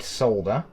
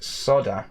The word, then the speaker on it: solder: with some fresh leaded solder you notice how in the uk we pronounced solder correctly none of this soda crap there we go so